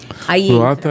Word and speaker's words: Proata: Proata é como se fala, sem H, sem nada no meio.